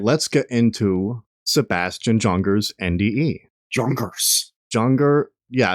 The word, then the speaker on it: Junger: let's get into sebastian jonger's nde junkers junger yeah i believe he pronounces it jonger you'll hear it in